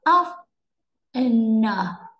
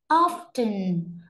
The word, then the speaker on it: often: Ví dụ từ này mình không đọc là of n, mình không đọc là of n mà mình sẽ đọc là often, often.